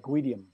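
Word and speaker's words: Gudim: So it's Norwegian, like Guidium. Guidium.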